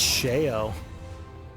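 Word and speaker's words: Sheogh: Nikolai, we shall be reunited on the field of battle. Though all the infernal hordes of Sha lie between us. Oh, it's pronounced shao.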